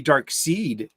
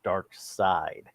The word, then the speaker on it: Darkseid: the longest time well yeah because the way it's spelled and it's just uh maybe dark seed is it gives it a different kind of